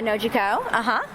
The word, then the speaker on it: Nojiko: Yeah, Nojiko, And I'm going to be honest, I did not want to try to pronounce that name.